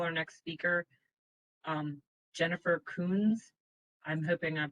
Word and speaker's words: Kunze: You pronounced it the exact way everybody always pronounces it. Don't worry. My name's Jennifer Kunze.